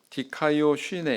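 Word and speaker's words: δικαιοσύνη: 자, 개역 한글판 성경에 의라고 하는 이 단어는 헬라어로 디카이오 쉬네 이렇게 발음을 합니다.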